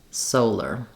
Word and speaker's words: solar: Lr, solar. And then, interestingly enough, scholar, even though it's spelled very similarly, it has different sounds.